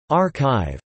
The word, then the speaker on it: arXiv: ArXiv, pronounced ArXiv, is a repository of